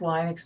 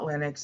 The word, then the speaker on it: Linux: And it should be pronounced Linux, not Linux. It's got one N. Therefore, in modern English, you pronounce it Li. L-I. If there were two N's, you pronounce it Lit.